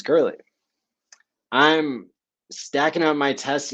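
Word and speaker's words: Goerli: go e-r-l-i girly g-o-e-r-l-i so it sounds like it should be pronounced go early go early but it's girly I'm stacking up my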